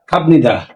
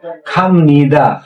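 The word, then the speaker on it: 갑니다: হবে মতে উচ্চারণ হবে এই খামদা এখানে উচ্চারণ হবে কি খামদা এই বিয়োগটা যেহেতু বিয়োগের পরে নিয়ম আছে তাই বিয়োগটা মতে উচার হবে লেখ খামনিদা আর খামনিদা মানে হল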